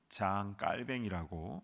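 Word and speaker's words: Jean Calvin: 프렌치로는 장 깔뱅이라고 이렇게 발음하는데요.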